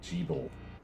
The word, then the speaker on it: Jeeble: Also, I'm really thrown by how they pronounced Gebel, because I've heard it pronounced Gebel several times. Apparently Jeeble. Sure. I'm gonna have to adjust that one a bit.